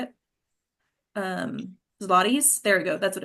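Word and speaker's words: zlotys: David sides, handsome some ziets. Is that how you say it? Um, zlotties.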